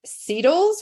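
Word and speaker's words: CETL: Appalachian State University in Seattle's we do pronounce it like beetles but it's the center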